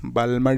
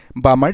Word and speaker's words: Balmer: ঠিক তেনেকে আহিব তোমাৰ বামাৰ সিরিজ ওকে সো এনেকে নাম্বাৰ 2 টো কি হ'ব যে বামাৰ সিরিজ ওকে নাম্বাৰ 2 টো BALMER বালমাৰ সিরিজ বুলি কয় বামাৰ সিরিজ এল টো সাইলেন্ট থাকে সো এই যেটো বামাৰ